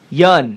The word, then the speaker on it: Yeun: And everybody who's listening out there, now you know how to pronounce his last name. Yeun.